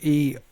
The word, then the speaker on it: Eoin: Again, Ian.